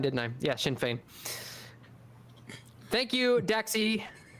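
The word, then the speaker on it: Sinn Féin: matter other than Mustafa right okay good oh Shin Fain did I say that wrong did I I said Shin fine didn't I yeah Shin Fain thank you daxi P me see that I'm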